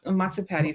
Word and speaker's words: Matsu Patty: Is that how you pronounce? Yes. Mat Matsupati.